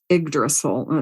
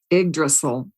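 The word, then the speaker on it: Yggdrasil: but in the Norse Smiths it's called called igdrasil it's spelled y g g d r a s i l igdrasil and igol it is a archetypal symbol of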